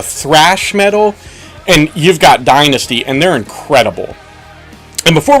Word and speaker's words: Dynazty: going to talk about the power metal band Dynasty now Dynasty is spelled a little different than what you're used